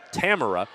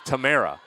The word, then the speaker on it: Tamara: I had her as Tamara. It's Tamara.